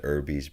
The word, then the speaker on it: Irby: Michael Irby, that's how they say it.